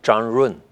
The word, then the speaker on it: Zhang Run: Shamrun. ¿Cómo? Sí. En chino es Changrun. Changrun. Sí, pero en el extranjero pocos saben pronunciar de esta manera, entonces usted pronunció muy bien.